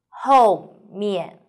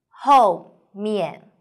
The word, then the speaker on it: 后面: 后面, 后面, 和 O, pay attention, here is O and U, O, O, U, O.